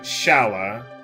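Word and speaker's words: Schala: Scala? Well, don't tell me I'm pronouncing that wrong. Yeah, I know. Some people like to pronounce it Shala.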